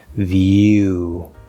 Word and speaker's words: view: this all right spelled with a w but it's actually an oo sound an ooh vowel view and then we're going